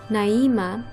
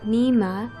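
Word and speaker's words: Nyima: Similar to that, I have the Tibetan name Naima or Nima, spelled N-Y-I-M-A. Whichever pronunciation, this is a beautiful choice.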